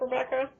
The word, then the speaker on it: QREBEKAH: That's Rebecca with a silent Q.